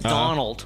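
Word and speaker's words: Domhnall: Oh, wait. Donald. Donald. Right? Donald Gleason. Yeah, that's how you pronounce DOMNHALL.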